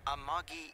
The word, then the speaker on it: Amagi: See, they put the stress correct on that one. Usually, it feels like the rule is if there's a three-syllable word in Japanese, the accent feels like it goes on the second syllable.